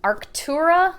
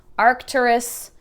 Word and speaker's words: Arcturus: And then this Arctura, right? I always say it wrong. Arcturus Classics.